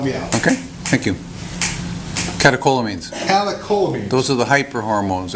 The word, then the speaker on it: catecholamines: Catecholamines.